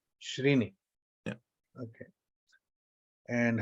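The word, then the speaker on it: shreni: in in in in srini is is right srini yeah okay and how do you define it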